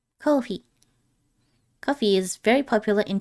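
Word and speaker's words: コーヒー: コーヒー、 Kohi is the Japanese pronunciation for coffee. コーヒー、 Kohi.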